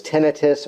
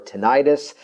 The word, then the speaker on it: tinnitus: You know, in a related category, depending on the pronunciation, sometimes referred to as tinnitus or tinnitis, a ringing or actually